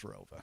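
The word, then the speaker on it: ROWVA: There was an additional town added after I graduated, but it's always been pronounced as Rova.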